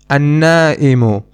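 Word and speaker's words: النائمُ: Another example is an-na'imu, which means someone who is sleeping, asleep. In this noun, we do not pronounce the lam again.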